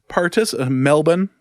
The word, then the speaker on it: Melbourne: The Melbourne Demons Melbourne is how it's supposed to be pronounced, I suppose.